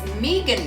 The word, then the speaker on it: Meghan: The H is silent.